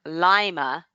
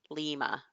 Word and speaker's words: Lima: Renee says she's also near Lima, not Lima, even though it's spelled Lima. Did I say it right with the long A?